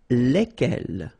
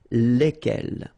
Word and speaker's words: lesquels: And it will give you the pronunciation lesquels. All right, so final S is not pronounced. So here, when you get this L-E-S, okay, it's just like the article, if you remember, les, okay? So it goes like lesquels, all right?